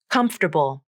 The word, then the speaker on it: comfortable: into the flap der the letter a is gone from the pronunciation so that leaves the final syllable as bull just a b consonant and a dark l comfortable my new shoes